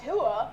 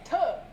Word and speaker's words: Tuah: Yeah, you're not saying Tuah, you're saying Tuah, you know? Like, you got to really put your back into it.